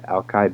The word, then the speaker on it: Alki: of whom arrived at Alki that's how you pronounce it Alki Beach and over November 13 1851 but it